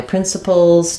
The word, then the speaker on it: principles: me to do that principles has first syllable stress um letter C says the sound uh so I'm going to mark that with stress print and the final letter s says the z sound it sounds like prpl and notice how there's really not much vow in this final syllable we have a cabic